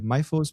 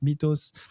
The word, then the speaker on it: Mythos: know how to say Mythos, Mythos. There's a lot of pronunciation, even in the meeting last time with client in IBM. I think it's Mythos if you've got the English enunciation.